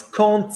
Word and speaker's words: quand: Quand il fait beau. So quand plus a vowel, quand il, quand elle, quand on is still when, but you pronounce it with a T.